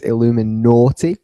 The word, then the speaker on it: Illuminaughty: Illuminati in Manchester Academy you're pronouncing it kind of vaguely it's Illuminati Illuminati as in it's a Pun It's a pun get it it's a double on